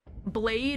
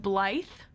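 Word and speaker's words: Blaidd: Blade is pronounced Blythe.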